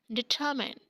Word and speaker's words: determine: And another word is determine. Determine. R is silent and mine is not mine. You cannot say determine. This is determine.